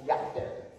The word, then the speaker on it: Jael: It's actually pronounced Yachter in spoken Hebrew, but I didn't really want to say that.